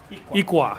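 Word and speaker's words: iklwa: Ikwa.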